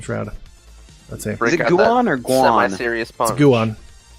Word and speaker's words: Guon: It's G-U-O-N, and it's pronounced Guan.